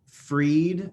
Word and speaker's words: Fried: do my my name uh freed uh spelled like fried f-r-i-e-e at china actually day and friday that's fine everyone called me fried i don't care anymore it's fine but uh